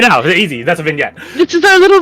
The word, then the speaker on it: vignette: That you don't pronounce it vignetti. Netty? Vignette. Because the E at the end changes it.